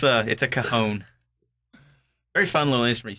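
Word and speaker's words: cajón: It's cajon. It's never Cajun.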